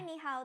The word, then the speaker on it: 你好: Did you notice that the tones for 你 and 好 doesn't sound the same when they are together? 你好 They are both pronounced in a third tone when spoken individually. And when they are together, they are pronounced like this. 你好 So when two third tones are together, the first one turns into the second tone.